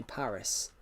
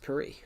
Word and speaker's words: Paris: Yeah, the UK would say Paris, but in France, you would definitely take the S off because it's French. Yeah, in French, it's pronounced Paris.